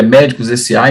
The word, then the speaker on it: medcossa: A gente tem o nosso Instagram @ medcossa, né, que seria médicos SA. Então a pronúncia é médico porque fica os dois SS.